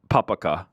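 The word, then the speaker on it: papakha: walk um and then number one uh habib's papaka yeah papaka papaka I I haven't quite found how to how to pronounce Pap say I just said it wrong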